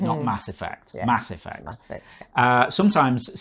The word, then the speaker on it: Mass Effect: played fall oh yeah Mass Effect oh yeah good stuff yeah sorry cuz I always put the emphasis on the wrong word it's Mass Effect isn't it ah Mass Effect Mass Effect that's it